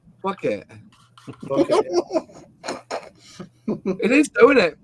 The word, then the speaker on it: Phuket: If you say that properly, fuck it. It is, though, isn't it? PH is F, isn't it? Fuck it, yeah.